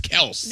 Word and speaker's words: Kelce: Stop fighting it. The name is Kelsey. No, I watch ESPN all that stuff and guess what? They still say Kelsey.